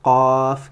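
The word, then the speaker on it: قاف: Donc voilà, je vous dis bon courage et exercez-vous à prononcer la lettre Qaf comme il se doit.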